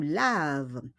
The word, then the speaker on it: laves: O S yan, pero on prononce pas le S. Tu laves.